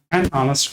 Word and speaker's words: honest: Then articles and so she is an honest girl. So why an honest girl? H is actually consonant. No but H is silent basically.